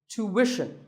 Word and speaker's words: tuition: hidden sound here well the first syllable is easy to American or to British but after that it's not ition its mission tuition you have to put the what sound there so tuition word number 41 is